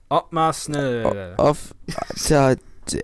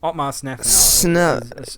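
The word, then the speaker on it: Otmar Szafnauer: Well, I just searched up the team principal's name, Otmar Zizafnauer. Yep, Otmar Sniffer.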